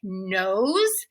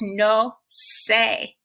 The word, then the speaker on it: nose: one of my students pronounced the word the english word nose as no say i understand why the student arrived at that pronunciation every syllable has a specific sound in spanish no say so why would the letter e be silent at the end of nose and why would the